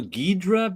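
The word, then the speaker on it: Ghidorah: here's a question is King gadora who we used to call gidra back in the day because I noticed the pronunciation of a lot of Monsters has changed over the years yes so it's been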